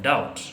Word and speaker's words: doubt: students a verb like doubt we say that doubt is spelled as d o u b t and b is silent don't say i am